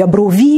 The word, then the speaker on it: Abrov: Porque já ouvi Abrovi, eu pensei, não, isto é porque as pessoas que falam francês gostam de mudar assim o nome. Não, é mesmo Abrovi.